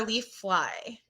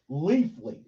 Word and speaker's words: Leafly: My question is it Leafly or Leaf Fly? Leafly.